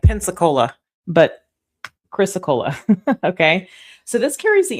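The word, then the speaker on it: Chrysocolla: It's Chrysacola. I just always have to look at it very carefully. Chrysacola, like Pensacola, but Chrysacola.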